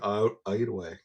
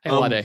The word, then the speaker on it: Ayoade: So, all Yeah, right, a bunch of talk about Richard Ayoade. That's not how you pronounce it. Ayoade, yeah, yeah.